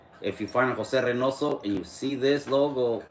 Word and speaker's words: Reynoso: Jose Renoso. There you go. And then you always find this logo on my on any of my social media. See this logo right here. If you find a Jose Renoso and you see this logo, that's me.